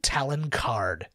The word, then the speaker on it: Talon Karrde: Talon Karrde. Talon? T-A-L? Yeah, like an eagle talon. Okay. And then card, like a card.